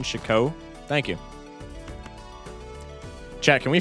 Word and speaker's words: FocusSh0ck: You shouldn't pronounce the T in FocusSh0ck.